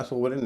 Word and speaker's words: sovereign: जैसे FOREIGN और SOVEREIGN, इसका उच्चारण फॉरेन या सोवरेन नहीं होता, फॉरेन और सोवरेन होता है।